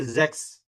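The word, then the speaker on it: sechs: उसके बाद है सिक्स सिक्स को कहेंगे जेक्स जैक्स [गला साफ़ करने की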